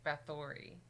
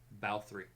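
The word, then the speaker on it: Báthory: that you could at least say bathory pronounce it correctly bow three it's the wrong and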